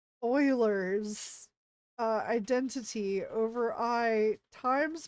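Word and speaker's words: Euler: Oh, and also for the longest time because I never got that far, I used to also pronounce that as ulers and now I know it's Oilers's uh identity over I times pi + one.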